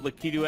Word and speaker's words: Lakitu: Pronounce it like in Japanese is Lakitu, so I think Lakitu is supposed to be correct.